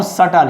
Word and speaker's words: subtle: Now subtle, here is B is silent, so elusive, that means difficult to detect, difficult to recognize, that is called elusive.